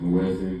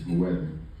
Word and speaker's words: muezzin: The person who does make this call, we call them the muezzin. You might hear it pronounced muezzin, but it's muezzin.